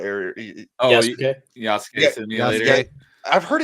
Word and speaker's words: Yasuke: I want to play Yasuka Simulator. I think I said that right. Yasuke.